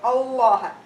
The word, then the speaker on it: Allah: So the Lam in Allah's name preceded by a Fatha or a Dhamma, you pronounce Allah's name with tafkhim. Allah.